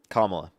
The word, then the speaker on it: Kamala: Kamala or Kamala, sorry, I don't want to mispronounce her name. Uh, Kamala Kamala. Kamla.